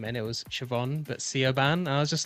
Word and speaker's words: Siobhan: Oh, well, Just, I Shane, imagine these guys seeing the name Quiva, like trying to get that out and or how Siobhan. it's spelled.